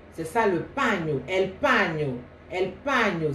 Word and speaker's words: paño: C'est ça le paño, el paño, ça s'écrit P-A-N avec un signe comme ça en haut, comme les Espagnols. Là, je ne sais pas le définir parce que c'est l'alphabet espagnol et O. Mais ça se prononce paño, paño.